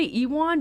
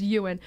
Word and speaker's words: Ewan: but i mostly saw it for is it ewan mcgregor is that how you say his name i always want to say ewon but my brother said it was pronounced ewin but he played uh obi-wan in the prequels